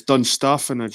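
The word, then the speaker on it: Dunstaffnage: It's Dunstafnage. I was there. I think that was last year. I was at Dunstafnage.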